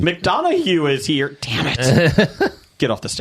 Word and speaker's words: McDonough: Neil McDonough.